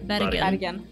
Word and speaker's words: Bergen: How do you pronounce that in Norwegian, actually? It's a hard G instead of a J. Bergen.